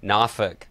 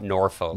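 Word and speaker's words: Norfolk: again like yeah um or Austin says nauk nauk Virginia not norol nuk yeah that's yeah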